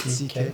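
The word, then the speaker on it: Székely: Yes, that's how you pronounce it, Sikh.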